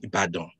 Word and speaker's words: Ibadan: He was a national hero, fought a big fight in a city of the city of Ibadan in Nigeria, or Ibadan. Let me pronounce that properly.